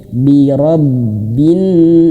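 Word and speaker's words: بِرَبِّ: Rob, birob gitu ya, ditekan sedikit. Birobin.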